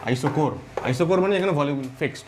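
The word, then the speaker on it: isochore: ঠিক আছে, আইসো CH এর উচ্চারণ হচ্ছে ক এর মতো, আইসোকোর।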